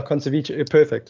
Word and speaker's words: Conservice: Do you guys ever like, do you struggle with those, like, after you probably launched, how do you pronounce it, Conservice? Yeah, Conservice, perfect. Okay, so perfect pronunciation.